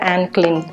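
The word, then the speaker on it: Anne Klein: அதில் ஒன்று வந்து ஆன்க்ளின். இது வந்து ஆனி கிடையாது, ஆன்க்ளின்னு தான் அந்த ஷாப்பில் ப்ரொனவுன்ஸ் பண்ணணும்னு சொன்னாங்க. ஏன்னா ஆனி அப்படின்னு நான் ப்ரொனவுன்ஸ் பண்ணேன். பட் அவங்க வந்து ஆன்க்ளின் அப்படின்னு சொன்னாங்க.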